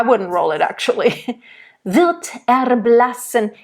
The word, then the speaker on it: erblassen: In the erblassen, I would, then I would roll it. Erblassen, and not maybe rolled, but more flipped. Because it's a short syllable and the it's the same as the at the end. It's a little bit more open. Erblassen. And again, that N, like LMN.